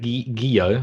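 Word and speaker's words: Guillot: so a horse trainer eric guillo i think that's how it's pronounced g-u-i-l-l-o-t has been banned by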